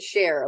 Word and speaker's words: Scherrer: I pronounce it Cher. Like Sonny and Cher.